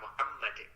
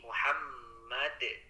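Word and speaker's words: مُحَمَّد: jadi madnya teh yang Kalau berhenti di Muhammad itu tidak dipanjangkan ya tadi Bapak bacanya Muhammad kemudian jangan dipanjangkan Kalau tidak ada aman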